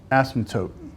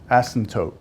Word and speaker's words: asymptote: weird word awesome tote asymptote the p is silent asymptote vertical because it's a